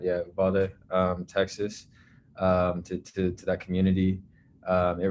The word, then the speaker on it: Uvalde: So my thoughts go out to all those in Uvalde, I think, is that how you pronounce it? Yeah, Uvalde, Texas, to that community.